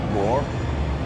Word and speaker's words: Bror: Bror. Or? B-R, like roar, but with a B.